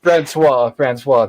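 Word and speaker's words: François: get his name wrong I'm gonna keep calling Vincent franois it's Fran fris franois thank you stay there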